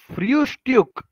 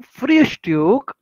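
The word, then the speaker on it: Frühstück: The does फ्रियुस्ट्यूक, pronunciation कैसे करते हैं, देखो यू उमलाउट है, अगेन यू उमलाउट.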